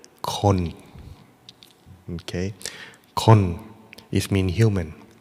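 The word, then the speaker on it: คน: In Thailand, people or human is pronounced as the word kon.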